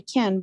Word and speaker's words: can: vowel too yes they can but I'm going to let them yes I'm not understanding your question uh we have to read that word can like a clear vowel right yes well stress it